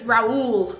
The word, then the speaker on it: Raoul: Apparently it's Raoul. Ralmote, but everyone where I'm from has always just called him Ralmote.